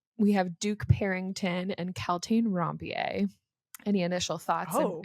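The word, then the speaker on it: Kaltain: And then is it Caltaine? Is that how you Yes.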